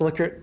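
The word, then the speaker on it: Likert: um some assess trivia it's pronounced lier instead of lyer scale from agreement to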